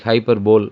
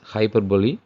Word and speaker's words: hyperbole: hyperb is used this particular uh some people pronounce like hyperb but actually you have to say it as hyperbole uh this is simply an exaggeration the poet